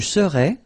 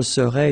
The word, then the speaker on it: serais: translate directly this je serais, it's I would be. Okay, but then in French we've got only one form like that. Remember, so AIS, but then you don't pronounce the final S.